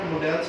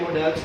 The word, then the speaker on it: modal: और एक चीज और, बार बार बीच में मैं भी मॉडल्स बोल रहा हूँ, ठीक है, क्योंकि मैं इसको मॉडल से बोलते आया हूँ, बट करेक्ट प्रोनाउंसिएशन इसकी मॉडल है।